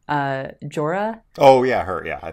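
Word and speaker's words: Jhoira: I grew up calling her Jawira, and I know that's not right. That's not right. That is not right.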